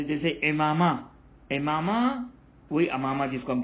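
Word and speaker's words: عمامہ: ये खास वजन ही इसी के लिए बयान किया था, जैसे इमामा, इमामा वही अमामा जिसको हम कहते हैं, इमामा गिशावा के वजन पर। इससे पता चलता है कि अमामे की सही प्रोनाउंसिएशन इमामा है।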